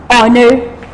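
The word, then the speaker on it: honour: So we also put AN there, like honor, H-O-N-O-U-R, honor hona.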